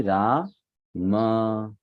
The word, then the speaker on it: Rama: on your screen so the first word is Rama it's not Ram many people will say it's Ram it's not Ram it is why this Rama because after M there is an a if after them you remove that a then it will become Ram it should be ra